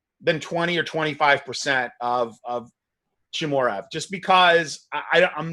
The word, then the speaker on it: Chimaev: How do you pronounce that dude's name? Chimaev, yeah.